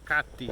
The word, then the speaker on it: CATIE: garden at kathy k c-a-t-i-e-k-t or katie is how they say it here but we have some